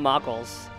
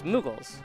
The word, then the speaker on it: Moogles: But she called them Moggles. Yeah. And I guess because, you know, Mog is how you say the name, but she saw it was Moggles. But there's two O's, so it's Moogles.